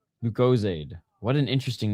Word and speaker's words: Lucozade: Oh, Lucozade rhymes with paid. Lucozade.